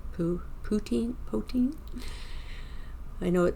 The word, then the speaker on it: poutine: Now, does your area also have that um that dish that they call pouti poin? How's it pronounced? Poutine.